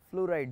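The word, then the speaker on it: fluoride: তোমাদের যাদের আমার কথা বিশ্বাস হচ্ছে না যে এটার উচ্চারণটা কি ফ্লোরাইড নাকি ফ্লুরাইড, তোমরা একটা কাজ করো, পেপসোডেন্ট নামে একটা টুথপেস্ট আছে, পেপসোডেন্টের অ্যাডভার্টাইজমেন্ট যখন টিভিতে দিবে, বিজ্ঞাপন যখন দেয়, তখনও দেখবে ফ্লুরাইড যুক্ত বলে, নট ফ্লোরাইড যুক্ত, ফ্লুরাইড যুক্ত।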